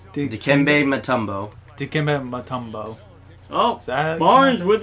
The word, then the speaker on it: Dikembe Mutombo: Wait, how's it pronounced? Dikembe Mutombo.